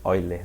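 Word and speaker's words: Euler: gente conhece que é eiler né Ele é suíço mas é enfim você fala oi né o o E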